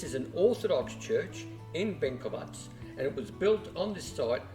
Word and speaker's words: Benkovac: jump in here and correct myself with the pronunciation of this town and the church that it's in it's bovats now being anouncing it as benovic uh that's a nearby